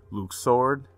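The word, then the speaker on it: Luxord: I just want to first off by saying Luke sword yeah that's how you pronounce his name so many people gave me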